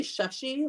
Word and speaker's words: Shashi: So it's actually Shashi, like a short U kind of sound. Shashi.